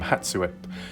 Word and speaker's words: Hatssut: do with hat suit that's how you pronounce the name hatsuwip they're regarded as one